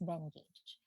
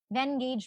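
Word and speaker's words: Venngage: is this one from Vengage or Vengage. I think it's pronounced Vengage.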